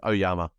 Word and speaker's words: Oyama: Walker and uh Nina or omiyoma if I'm pronounced the last name correctly I think it's oyama oh yeah that's it so